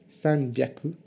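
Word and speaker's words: 三百: Pour des facilités de prononciation, on dira pour 300, sanbyaku, pour 600, ropyaku, pour 800, hapyaku.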